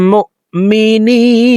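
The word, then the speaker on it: مؤمنين: إن كنتم মুমিনিন নি এখানে 3 আলিফ টেনে নুনকে সাকিন করব কারণ জেরের বাম পাশে জজম আলাইয়া মদের হরফ তো এই মদের হরফের বামের হরফে ওয়াকফ হইলে মধ্যে আরজি 3 আলিফ টেনিয়া পড়িতে হয় মুমিনিন ইন কুনতুম মুমিনিন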